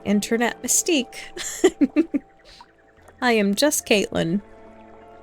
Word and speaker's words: CVII: they were like, "Oh, how do you say your name?" I was like, "Caitlyn, it's just a Roman numeral a Roman numeral."